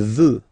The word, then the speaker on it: veut: Il veut. Final T not pronounced.